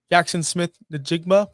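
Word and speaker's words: Jaxon Smith-Njigba: 7, Nico Collins 8, Drake London 9, AJ Brown 10, Jackson Smith Najigma, which I just finally pronounced that name correctly, 11, and Ladd McConkey 12.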